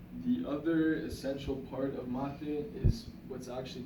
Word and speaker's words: mate: But to know mate is this cup, and the way I kind of explain to some people is that it's mate, it's spelled mate, but with the Spanish accent, mate.